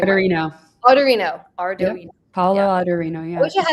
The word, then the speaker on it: Ardoino: allegedly made to Lutnick by his friend Paolo Ardoino. I never say his name. Ardoino.